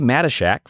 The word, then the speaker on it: Matyschsyk: on this segment my next guest is Jerry mesak from Crossfit Brickyard in South Windsor Connecticut Jerry